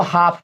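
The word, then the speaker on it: half: देखो भाई इसको पहले समझो, इसको हाफ पढ़ते हैं। क्या पढ़ते हैं? मैं बताऊं मजे की बात, मैं पूरी इसको हाल्फ पढ़ता था।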